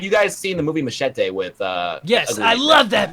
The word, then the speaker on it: Machete: like um have you guys seen the movie Machete with uh I love that movie Machete kill the first the first machete was amazing but the second one first of all it's pronounced maete Dimension I know you're from Alaska so you